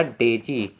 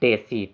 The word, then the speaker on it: daisy: इसको डेजी पढ़ेंगे फ्रेंड्स, इसका प्रोनाउंसिएशन आप लोग सही करिएगा, डेजी न कि डेसी।